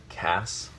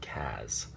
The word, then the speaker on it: Cass: think it's critical that the name still be pronounced Cass and not Kaz I I want to